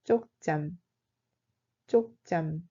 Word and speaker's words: 쪽잠: Cela se prononce comme 쪽잠. 쪽잠.